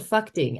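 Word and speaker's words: Phakding: these big glacial rivers to a place called fuing and yes I am pronouncing that correctly then you kind of hug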